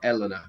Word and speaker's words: Elena: so then Elena so would you say Elena or Elena no in Italian it's Elena which is a bit annoying but yeah we say Elena Elena very okay yeah right